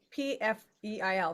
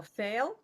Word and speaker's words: Pfeil: And yeah, the pronunciation of my last name is Pfeil. Very, very difficult to pronounce for English speakers.